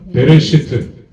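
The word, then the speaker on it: בְּרֵאשִׁית: 우리가 알죠 자 여기다 쓸까요 시트 다같이 시작 베레시트 다 같이 읽으세요 베레시트 시 정확한 발음은 안에 경점이 들어가서 레시트 두 번째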